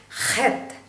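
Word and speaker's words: חית: വരും അതുകൊണ്ടാണ് ഞാൻ ഇത് എടുത്തു പറയുന്നത് ഇപ്പൊ ഉദാഹരണത്തിന് ഹെത്ത് ഹത്ത് എന്ന് പറയുമ്പോൾ ആ ഒരു അതിനകത്ത് ഒരു ആറ്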